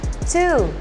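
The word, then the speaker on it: two: Inggrisnya dua itu kan ada huruf w di tengah-tengah nah ini huruf w nya nggak usah dibaca jadi langsung aja to Oke jadi itu semua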